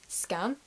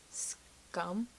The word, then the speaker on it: Skam: a Norwegian show and because it's Norwegian it's not pronounced scam it's pronounced like scum because I'm British and